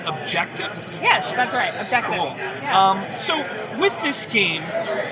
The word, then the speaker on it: Objectif: anything I've ever seen I believe it's pronounced objective so with this game